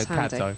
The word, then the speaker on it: Kadzo: he's watching, just because we weren't quite sure how to pronounce her name, and he said it's like Glasgow. So we'll go with that. So Kadzo.